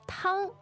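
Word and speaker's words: 汤: Tang, tang. That's the first tone, meaning soup. All right, so tang is first tone, and it means soup.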